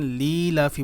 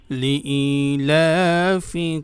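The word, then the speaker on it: لِإِيلَافِ: অনেকেই এখানে যে ভুলটি করে থাকেন, লিলাফি বলেন, লিলাফি। ই যে আছে এটা কিন্তু বলেন না, এটা কিন্তু ভুল উচ্চারণ হবে। লাম জের লি, হামজা ইয়া জের ই। লিইলাফি বলুন। কুরাইশ।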